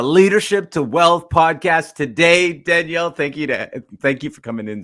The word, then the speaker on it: Danielle: And Danielle, how do you pronounce Danielle with a French accent?